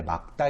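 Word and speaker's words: 맑다: 참 좋은것 같은데요 요 말 딸을 올바르게 발음하면 원래 막다 인거 알고 계신가요 잘 모르셔서 쓸 거에요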